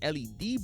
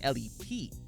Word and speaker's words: L.E.P.: Game said LED boys rather than L.E.P.